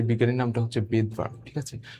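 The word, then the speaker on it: Svedberg: তার নামটা হচ্ছে বেদবার্কের। বেদবারক বেদবার। ঠিক আছে? বেদবার। তো এই জায়গায় এসটা সাইলেন্ট থাকে।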